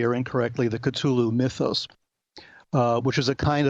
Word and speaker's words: Cthulhu: Or people pronounce it Cthulhu in different ways. I prefer Cthulhu for reasons that'll become clear.